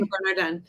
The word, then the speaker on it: Le Bernardin: Le Bernardin.